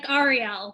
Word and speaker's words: Ariel: I mispronounced your name Oh Arielle like saying the letters Arielle very quickly excellent so Arielle is